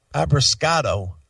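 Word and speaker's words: Abbruscato: Abrascato.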